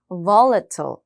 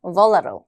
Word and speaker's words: volatile: 자, 이 단어는 특이하게 강세가 이렇게 앞에 있습니다. volatile 이라고 하거나 volatile 이렇게 T 발음은 사라질 수도 있긴 한데 중요한 건 강세가 앞에 붙는다는 점이에요. 해볼게요. volatile. volatile.